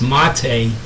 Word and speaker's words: MATE: originally started this project it's actually correctly uh pronounced mate for those who don't know mate is a drink from south america it's a beverage actually